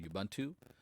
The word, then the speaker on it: Ubuntu: I think a lot of people have moved on to pronouncing it YUbuntu. So I guess that's how I'll pronounce it now.